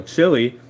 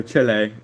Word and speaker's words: Chile: next summer since um Santiago Chile or Chile some people pronounce it different but I call it chili today so um when